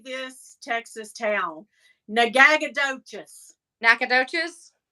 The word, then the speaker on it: Nacogdoches: Nacogdoches? No, I like to say it as Nagagadotchis because that's how it's spelled.